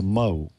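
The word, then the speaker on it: mho: What is a Mo? And it's not one of the Three Stooges. That's spelled M-H-O.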